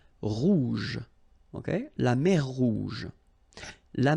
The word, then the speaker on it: rouge: Remember, G and then E, J. Rouge.